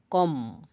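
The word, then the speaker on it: comb: M plus B এম আর বি একসাথে থাকলে বি এর পর ভাওয়েল না থাকলে বি এর উচ্চারণ হয় না। যেমন বম বোমা কম চিরুনি থাম হাড়ের না হাতের বুড়ো আঙ্গুল থাম্বনেইল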